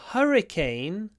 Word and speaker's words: hurricane: next one the the hurricane destroyed hundreds of homes uran Hurricane H first syllable hurricane open your mouth you won't get a good H if you don't open your mouth hurricane the hurricane